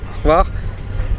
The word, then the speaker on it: Hvar: Ensuite on a visité un peu l'île, on est allé, je sais toujours pas prononcer le nom mais c'est Hvar, donc HVR, la ville où c'était une petite ville un peu tranquille.